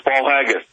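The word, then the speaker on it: Paul Haggis: Academy Award uh winner Paul uh hains as powerful and often chilling eye opener hope I'm pronouncing that Paul haggus I think I'm pronouncing that right uh Mr Miller it is it's Paul haggus fantastic uh listen so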